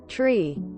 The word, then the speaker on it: three: getting them mixed up 0 one tree F pronounced like sour five 2 6 7 and